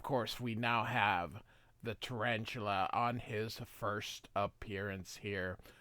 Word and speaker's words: Tarantula: My name is Tarantula. It's actually Tarantula. It's same spelled the same way in English and Spanish, but which is probably why they used it.